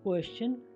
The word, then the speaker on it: question: यहाँ पर आपने देखा कि S के बाद TION आया तो और T के बाद URE हो तो T का उच्चारण च हो रहा है, जैसे क्वेश्चन, कल्चर, नेचर, पिक्चर।